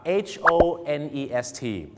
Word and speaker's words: honest: คำ นี้ นะ ครับ จะ ออก เสียง ว่า honest ถูก ต้อง นะ ครับ honest นะ ฮะ ไม่ ใช่ honest นะ ฮะ คำ นี้ นะ ครับ ถึง แม้ จะ เริ่ม ต้น ด้วย ตัว H ก็ จริง ครับ แน่